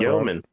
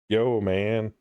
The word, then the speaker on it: Yeoman: Yeoman. Yeah. Yo man.